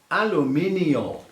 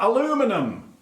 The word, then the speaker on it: aluminium: count absolutely spot on aluminium which obviously in english is aluminium in america aluminum where does that come from aluminum please